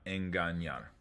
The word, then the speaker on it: engañar: Enseñar, engañar. The ñe sounds like an English NY. So imagine I put a Y there. Engañar. That's how that letter is pronounced, like an NY.